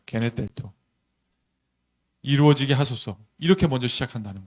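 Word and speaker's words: γενηθήτω: 한번 읽어볼까요? 게네텔토, 이렇게 발음한다고 말씀드렸죠. 네, 게네텔토.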